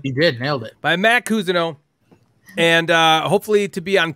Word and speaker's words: Mat Cousineau: Did I pronounce it right that time? You did. Nailed it. By Matt Cousineau.